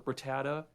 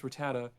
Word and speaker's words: Rattata: like for like for rattata they i forgot what the hell it was but god damn it it's rattata it's not rad to tata or rat tata it's repatta someone in